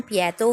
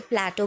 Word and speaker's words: Plato: इसकी Greek pronunciation पिएटो है, otherwise English में लोग इसे प्लेटो भी बोलते हैं।